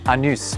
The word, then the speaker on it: Anus: The locals will tell you it's pronounced Anus, but you don't have to put up with their cheek.